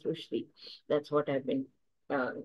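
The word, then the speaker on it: Rushdie: be so much more I have been saying uh Rashi Rashi but it is not it is rushi that's what I've been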